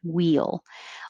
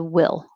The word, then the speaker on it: we'll: sound wheel wheel and the very correct pronunciation of we will the contraction wheel although in most speech connected speech if i say we'll meet you there it gets shortened to will we'll meet you there